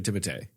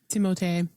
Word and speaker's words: Timothée: Apparently that's how you actually say his name. It is actually Timothée or Timothy or something like that. Timothée. Yeah. But he's like, if you call me Timothy, that's fine. He's like, it's what, but